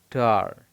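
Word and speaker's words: ta: तो टा, अब ये क्या है? ब्रिटिश इंग्लिश प्रोनाउंस टार।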